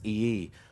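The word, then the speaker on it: Iyi: His last name is pronounced E-E, which is spelled I-Y-I.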